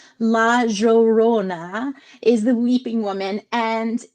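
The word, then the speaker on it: La Llorona: Dominican Republic so he gave me the correct pronunciation. Laorona is the weeping woman and in my library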